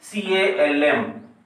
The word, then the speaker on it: calm: Example, CALM. Its pronunciation is calm.